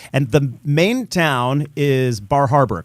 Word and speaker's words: Bar Harbor: which which is pronounced bahaba and so uh yeah so you know because the r is often dropped yeah in meain yeah